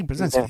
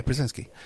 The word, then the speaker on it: Brzezinski: Am I pronouncing that correctly? Brzezinski, yeah, Brzezinski.